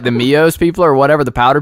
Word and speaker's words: Mio: Everybody knows that I just came up with that, so if Mios, is that how you say it, Mios? It's Mio. It's just Mio. Oh, if Mio steals my idea, dude, you guys are fired.